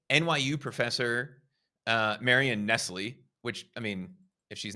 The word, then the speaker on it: Nestle: Actually, she pronounces her name Nestle, but it's spelled exactly like Nestle.